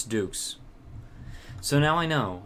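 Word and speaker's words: doux: but vegas dukes it's dukes so now i know it's pronounced that's the greek pronunciation and it means grand duke so oh jin says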